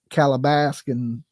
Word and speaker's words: Calabasas: I spent a lot of damn money on that Calabasas.